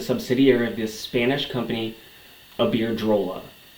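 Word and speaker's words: Iberdrola: of this Spanish company aard drolla which I kept pronouncing wrong in that other vide so I apologize it's aard drolla spanish-based company rant parent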